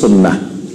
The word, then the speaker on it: সুন্নাহ: তো এই জন্য বেশি পরিচিত আমাদের দেশে সুন্নত নামে, কিন্তু এটা শুদ্ধ আরবি উচ্চারণ হলো সুন্নাহ।